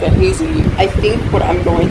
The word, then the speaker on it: Hezi: can start on the Hezi, or as I mispronounce it, Hezi, but the Hezi is actually something that goes with the chin for the root chin of this.